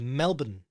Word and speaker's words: Melbourne: shudder if they hear that for the authentic pronunciation go with Melbourne with the bun Melbourne as the one word